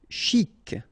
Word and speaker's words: chic: Chic, okay, you pronounce the final C, and then CH together, sh, chic.